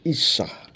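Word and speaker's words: אשה: dari tulang rusuknya dalam bahasa ibraninya ini dibacanya Isya artinya perempuan saya ulang lagi ini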